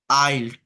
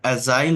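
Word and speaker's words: aisle: welcome on board sir ইউ আর in seat 24ফ K please follow দা আইল টু the right এটা এজাইল না এটা আইল হবে এই রাস্তা এইদিক দিয়ে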